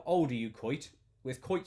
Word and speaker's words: Koit: to be fair a lot of people call me anyway um so you're not doing me a disservice hdx gordon hello sir says how are you how old are you coit with coit spelt with